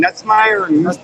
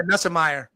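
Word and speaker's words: Nussmeier: Nutsmeyer. What's his name, Mike? What's the LSU? Yeah. Nussemeyer.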